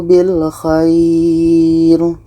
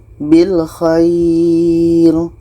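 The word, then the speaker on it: بالخير: Jadi, kita memperpanjangnya setidaknya selama dua harakat sebelum berhenti pada huruf terakhir. Contoh: du'ahu bil khair. Bil khair. Kita memperpanjangnya setidaknya selama dua harakat sebelum berhenti pada huruf terakhir. Bilkhair.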